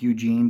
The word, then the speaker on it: Eugen: it's not spelled e u g NE like Eugene but that's how I want to say it okay you say it however you want to it's Eugen again said multiple times throughout Mission dialogue Eugen